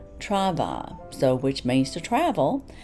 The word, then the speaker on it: Trouvailles: I've called it travels I've called it try trival or trival and there are so many different pronunciations of this box I have gone on Google and heard numerous interpretations but I believe the French is Trava so which means to